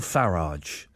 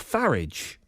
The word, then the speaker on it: Farage: Pint-loving politician Nigel Farage has given up booze.